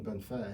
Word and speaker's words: Bonfay: This is a place that Bonfay, I think I'm pronouncing that right. Bonfay is correct.